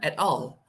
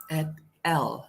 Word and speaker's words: et al: al uh, to be at all, but actually the correct pronunciation for this is at L, not at all.